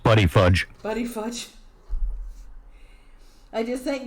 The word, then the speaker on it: Buttigieg: I think it's pronounced Buddy Fudge.